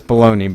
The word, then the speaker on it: bologna: I know that's baloney, but I always like to pronounce it Bologna because it looks cool. Or it sounds cool to me.